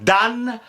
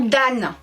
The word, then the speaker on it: dam: tomberas à l'E mais l'Académie continue à nous à prononcer au grand dan même si on écrit d a qui dit au grand dan franchement bah ce qu'on